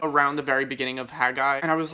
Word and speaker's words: Haggai: the book of haggai if i'm pronouncing that right too i think it's haggai hagai so i actually read